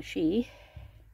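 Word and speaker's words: sidh: And as we have set the altar out on a she, which is spelt S-I-D-H, or a fairy mound, with elemental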